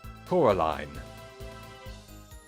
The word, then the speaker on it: Coraline: Cora is pronounced Cora, and the line part is obvious, so Coraline. Gotcha. Coraline.